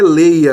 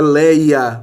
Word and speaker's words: Leia: Não é Leia aqui, é Leia, o nome de uma mulher. Então é ditongo aberto, se aplica também.